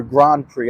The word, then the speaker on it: Grand Prix: to have the F1 Grand Prix and um or Grand Prix I believe is the correct pronunciation uh but there's also